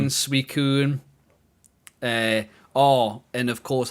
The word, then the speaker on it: Suicune: But anything that was a mispronunciation, Swizine, Suicide, Suicune.